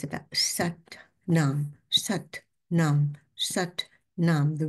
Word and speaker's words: Sat Nam: And of course, the pronunciation. It's not words that are just, you know, put together lazily. Satnam, Satnam, Satnam, Satnam. Look at the difference. Satnam.